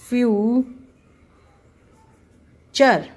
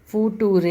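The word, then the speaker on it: future: जो है टी का ट इज चर टी यू आरई जब आ जाता है तो इसको हम प्र करते ए चर चर चर लाइक फॉर एग्जांपल मैं कहू फ्यू चर फ्यूचर दिस इ नॉट फूटूरे इट ज फ्यूचर च की आवाज इसके अंदर आने लग गई है पिकचर सो यहां पर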